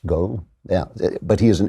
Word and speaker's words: Ngo: It's Andy Ngo. That is his name. Ngo, I guess. Go.